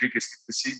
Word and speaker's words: Du Plessis: How do you pronounce your name? Du Plessis is the correct pronunciation.